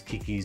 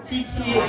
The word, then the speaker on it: QiQi: So the real pronunciation is QiQi. QiQi, so it means 7 in Mandarin Chinese. But, like Queen Elizabeth, I am for the people. So white people, you're welcome to call me QiQi, okay?